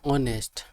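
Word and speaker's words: honest: start with वल sound even if word start with अ silent constant for example an hour the word ऑनेस्ट also ए silent constant ए तो इस यहां पर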